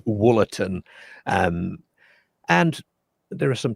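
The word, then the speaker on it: Wollaton: t o n and naturally I pronounced that walatin. It looked like it was pronounced watin. I am reliably informed by uh commenters that it is woolin.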